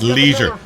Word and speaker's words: leisure: number seven Leisure Leisure it's Leisure not Leisure there's an eye in there across to other countries are